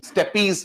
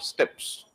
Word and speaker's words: steppe: S-T-E-P-P-E, steppies बोलते हो ना? We pronounce it as what? Steppes.